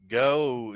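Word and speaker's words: Geaux: uh get some sleep go is that spelled g e a x how they spell it down there LS you talk about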